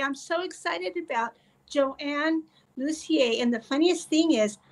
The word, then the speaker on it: Lussier: Today, we are going to learn from Joan Luzier. Luzier. I I knew I would do that. That's okay. You got the French pronunciation.